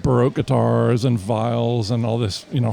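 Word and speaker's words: viol: Vial VO. VO. That's the French pronunciation.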